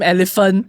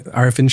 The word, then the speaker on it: Arifin: I think that was also exacerbated by I think some of her pronunciation of Mr. Arifin's name, right? So Yeah. people thought she was calling him elephant.